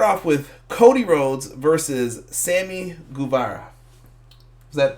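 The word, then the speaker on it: Sammy Guevara: We start off with Cody Rhodes versus Sami Guevara. Is that pronounced correct?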